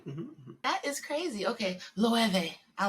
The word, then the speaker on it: Loewe: It's just Loewe.